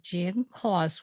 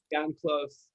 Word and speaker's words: Jann Klose: did I pronounce it wrong? Yes, Okay, then pronounce it for us. Jan Close.